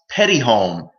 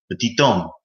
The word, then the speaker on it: Petit-Homme: It was pronounced petty home in American English, petit home. You wouldn't hear that second T. Oh, Yeah, but then as I got more educated on my last name, I just started pronouncing it like in its native derivative, petit homme.